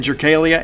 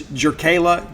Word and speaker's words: Jerkayla: I've been saying Jerkalia. It's Jerkayla Jordan.